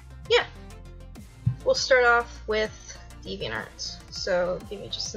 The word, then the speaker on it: DeviantArt: So yeah, we'll start off with DeviantArt. So give me just a minute. Boop, boop. Alright. So DeviantArt. Some people pronounce it differently, but that's how I pronounce it.